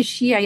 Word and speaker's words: Shia: And in the popular representations of a lot of Lebanese, being a Shia, as I said, like rhyme with being, backwardish, illiterate, kind of a savage.